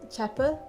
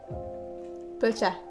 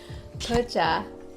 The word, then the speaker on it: bhocha: What is tea? Cha. What is Tibetan? Tibetan. Pe. Right. Combine those two now? Chapa. Bhocha. Yeah. Bhocha. Bhocha, pepe, shimpu.